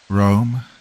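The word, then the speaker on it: Roem: Rome, that's spelled R-O-E-M, not like the city, have an innovative range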